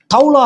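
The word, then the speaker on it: תולעת: எபிரேய வார்த்தையில அந்த புழுக்கு தௌலா அப்படின்னு சொல்லுவாங்க, டோலான்னு கூட சொல்லுவாங்க. ஸ்தாபனத்துக்காரர் டோலான்னு உச்சரிக்கிறாங்க.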